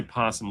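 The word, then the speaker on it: opossum: In the US, people usually say possum, leave out the O.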